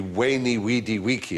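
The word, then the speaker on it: veni, vidi, vici: When I was taught Latin, we were taught to pronounce the V as a W. So it would be Weni, Weedy, Wiki. I came, I saw, I conquered, is what, what Caesar said, or Kaiser said, yeah.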